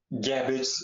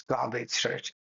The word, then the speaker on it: garbage: different kinds of um gabage. Uh this is garbage. It sounds like cabbage. It's garbage. Garbage.